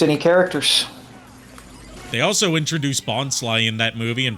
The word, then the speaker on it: Bonsly: in that movie and pronounced his name wrong because they hadn't solidified the pronunciation yet if you go back and watch that movie in Bond's first appearance everyone calls him bonley y but killing off